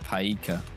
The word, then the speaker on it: Pajka: Loads of pajka, if that's how you say it. It's basically all we're finding. It's pronounced paika.